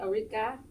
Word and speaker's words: Ulrike: all the time okay so the ease is pronounced as an a arika with an a yeah okay yep so